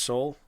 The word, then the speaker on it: Seoul: It's pronounced Seoul.